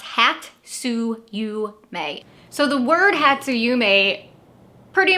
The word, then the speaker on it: hatsuyume: the following year and this tradition is called hatsuyume it's pronounced hat su you may so the word hatsuyume pretty much translates into